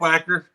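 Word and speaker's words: Wacher: you say that word Wacker whacker whacker whacker whacker whacker and it was pronounced whacker they W they named that child Richard Richard wacker Nick whacker oh God I remember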